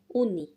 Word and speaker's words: uuni: And then we have uni, uuni, uni, uuni, you have uuniin.